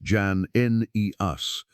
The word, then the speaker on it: Jannaeus: At a certain point, the community found itself with a degree of favor during the reign of a ruler named Alexander Jannaeus, pronounced Jan-Neus, whose religious leanings ran closer to their own and against their rivals.